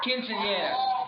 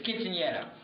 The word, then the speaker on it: quinceañera: The quinceanera, and I'm probably mispronouncing it, but the quinceanera. Quinceañera. I'm Puerto Rican. It's quinceañera.